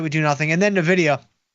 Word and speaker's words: Nvidia: do nothing and then Nidia which again is pronounced Nvidia 39 days to go